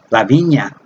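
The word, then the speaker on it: La Viña: a cup of Spanish in college La Vina lavinia it's big it's pronounced Lavinia Lavinia or English divine that cooler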